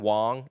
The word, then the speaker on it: Wang: was that really really it's Simon Wong if if you pronounce it correctly.